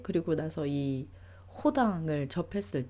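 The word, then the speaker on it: Rodin: 생각하는 사람으로 유명한 조각가 로댕을 이제 한국에서는 로딩으로 배우고 읽고 하는데 사실 불어 발음에서 어 로이라고 안 하고요네 어 불어 발음은 호에 더 가깝습니다네 에서는 이제 R이 이제에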